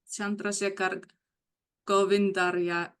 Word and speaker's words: Chandrasekhar Govindarayalu: Now, I would like to welcome our ESMAP Program Manager, Chandrasekhar Govindarayalu, for his opening remarks. Thank you, Chandra. Thank you, Ellen. You did well in pronouncing my last name.